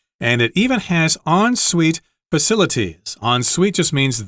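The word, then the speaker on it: en suite: has a bathroom included as well yeah it's pronounced on Suite which is weird I know because it it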